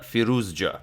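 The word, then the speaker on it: Firouzja: it correctly this time as some of you sent me the way to pronounce it it's furious Joe so apparently both the Z and the J so thanks for that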